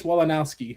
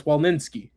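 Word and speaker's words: Fix-Wolansky: Chop That'd be Trey Fix Wolnowski. Like Or no, actually no, it's Wolninski.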